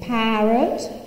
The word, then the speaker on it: parrot: I say in English, if I stress a syllable, the vowel quality is full. I say parrot, but I say parade. So when the syllable is unstressed in English, the vowel becomes schwa.